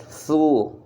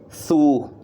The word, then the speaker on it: through: First of all, d'abord, to get through. Vous voyez ce mot qui s'écrit avec T-H-R-U. G-H, T-H-R-O-U-G-H. It sounds like through, to get through, ça se prononce through la langue, entre les dents, en soufflant.